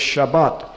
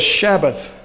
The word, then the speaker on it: Shabbat: weekly Sabbath now the weekly Sabbath in Hebrew as well as pronunciation today in Israel is Shabbat that's Sh a BB a tea in modern Hebrew Shabbat our classical Hebrew is shabath it's Sh a BB 18 for those who write Hebrew there it